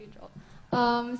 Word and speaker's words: Aingeal: So I know it's spelled differently, but yes, it's pronounced as Aingeal.